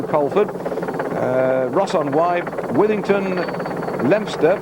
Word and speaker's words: Leominster: But he's going through Colford, Ross on Wye, Withington, Leominster, that's spelled Leominster, but it's called Leominster, and up to Ludlow, and then to Much Wenlock, covering 91.5 miles tomorrow.